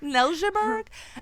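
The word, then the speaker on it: Neltje: Nelburgg. And the way they say like that is because it's spelled like with an N E L T J E. So it's Danish origins with that name.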